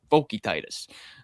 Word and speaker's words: Vokietaitis: The broadcast was saying his name wrong all night. I'm like, I don't know what pronunciation guide you guys are looking at, but Vokietaitis.